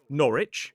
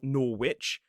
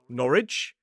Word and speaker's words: Norwich: So, they'll say Norwich and Greenwich. Now, you'll notice in the three examples I've given so far, while there is a W in the words in the place names, the W is silent.